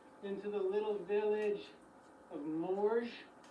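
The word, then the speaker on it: Morges: We are going to work our way down into the little village of Moor. Mor is spelled M O R G E S.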